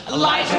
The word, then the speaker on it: Liza: It's Liza with a Z, not Lisa with an S, cause Lisa with an S goes nuts up.